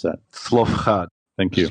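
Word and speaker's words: Zelophehad: Quick, how do we pronounce that? Slofchad. Thank you. Slofchad.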